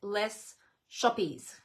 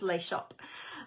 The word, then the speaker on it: Les Shoppes: l-e-s Liz shop s-h-o-p-p-e-s so it looks like less shoppies but it's pronounced lay shop um yeah sort of